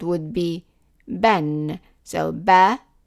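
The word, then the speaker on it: بًا: So ba with one fatha, by adding the other one is like adding n sound to it. Ban. So ba, ban. And it is a short vowel. The alif here is silent, so it is not long. It's just ban, ban.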